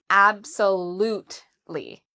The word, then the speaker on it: absolutely: So the stress is on the third syllable. We would say absolutely. So there's 4 syllables in total.